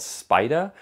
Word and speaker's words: Spiyda: is something made by a company called spider it's spelled kind of funny i'll toss it